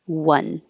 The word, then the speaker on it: one: leave it there one sounds like it starts with a w because you have to start with rounded lips one and one two three